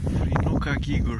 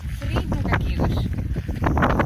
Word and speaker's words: Þríhnúkagígur: And it's pronounced like TH in English. And we pronounce it Þríhnúkagígur. Yeah, Þríhnúkagígur.